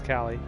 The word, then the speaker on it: Cali: Is it Callie or is it Kaye? Ah, you're saying it right. It is Cali.